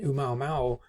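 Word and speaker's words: ʻOumuamua: one of the reasons that people denied that Oumuamua, which is the pronunciation of this right here, could have been an extraterrestrial object that visited us in 2017.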